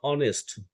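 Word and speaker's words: honest: একই রকম ভাবে অনেস্ট, এইচ দিয়ে শুরু, কিন্তু আমাদের প্রোনাউন্সিয়েশনটা অনেস্ট, ও এর ও আসছে একটা অ অ অনেস্ট অ, সেই কারণে এই অনেস্ট আগে অ্যান্ড বসবে।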